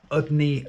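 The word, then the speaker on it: Udny: Hello folks, I am in Udney Station, and that's the way you pronounce it apparently.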